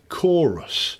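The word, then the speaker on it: Qoros: It was Chorus. It's spelt Q-O-R-O-S.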